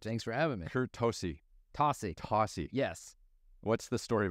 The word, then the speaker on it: Tocci: But we just decided to pronounce it Tocci.